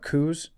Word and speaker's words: coup: We're going to get into talking about Coups, or Coups.